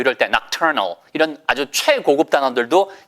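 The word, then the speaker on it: nocturne: 그래서 부드러운 피아노 의 발라드 곡을 4 우리가 녹턴 높은 이라고 하잖아요 높으니 아니고 미국식 발음 해야 되니까 l 우리가 복수나 혹성 아니죠 팝송과 박수 접 악스 그래서 애도 낙천 이 해보세요 낙찰 나 잘 이게 낙천 이에요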